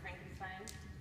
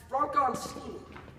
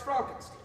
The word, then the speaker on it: Frankenstein: Frankenstein. That's Frankenstein. I beg your pardon? My name. It's pronounced Frankenstein. Oh, I thought it was Dr. Frankenstein. No, it's Dr. Frankenstein.